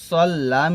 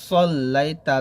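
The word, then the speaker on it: صليت: কামা সদ লাম জবর সল্লাম ইয়া জবর লাই কামা সল্লা এখানে কিন্তু সদের উচ্চারণ করতে হবে সদ যেন সিনের মত না হয়ে যায় কামা সাল্লা বলা যাবে না সল্লাই তা জবর তা কামা কামা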